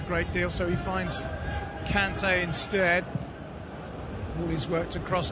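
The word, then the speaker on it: Kanté: Here's Mount finding Kante. Conte, perhaps we should be pronouncing it.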